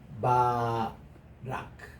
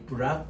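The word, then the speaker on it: ברך: 이게 이제 축복하다라는 이 말인데 바락. 여러분 오바마 대통령의 first name 아시죠? 뭡니까? 바락입니다. 영어로서는 이게 부락이라고 읽는데 이거거든요. 그러니까 이제 히브리 말 그대로 그냥 바락입니다. 바락인데 영어에서 이게 브락 오바마라고 읽습니다.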